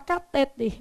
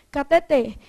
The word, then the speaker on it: cateter: Os médicos querem falar catéter, mas o certo é cateter.